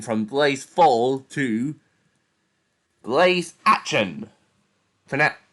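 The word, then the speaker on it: Aschen: blaze fall to blaze action fanat pronounced like ashen comes from the brothers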